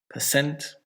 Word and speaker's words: percent: And native English will put it on the second one. So it's not hotel, it's hotel. And it's not mistake, it's mistake. Percent, report, machine.